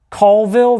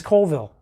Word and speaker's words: Colville: the weeds over, and it's not worth the time to be like, Colville versus Colville. Both pronunciations of that town are kind of the same. You know, I mean, I've heard it interchangeably used by locals, people from out of town, on the news.